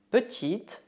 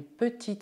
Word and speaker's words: petite: No masculino, o T é mudo, mas no feminino devemos ouvi-lo. Petit, petite.